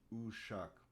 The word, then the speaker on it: ushak: even hijaz it's um we have a makam called ushak which is uh right here ushak is gonna um have turkish characters ooh shock this is the this is how you spell it in in turkish with this sound shock excuse me close to he